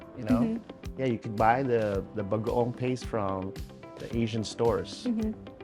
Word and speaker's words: bagoong: And how do you pronounce this one? Bagoong. Bagaong.